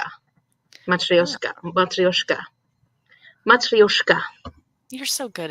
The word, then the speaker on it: Matryoshka: was But spelling it wrong, and that's probably why I kept spelling it Matruska. oh, Matryoshka.